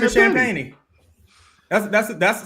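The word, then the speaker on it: Champagnie: him real yeah his name his name is champany that's that's that's how the announcers sham champeny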